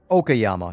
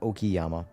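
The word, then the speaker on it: Okayama: Okyama. Not Okiyama.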